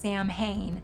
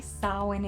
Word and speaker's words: Samhain: ever heard of samhain it looks like it should be pronounced samhain but the irish say sawin it is it was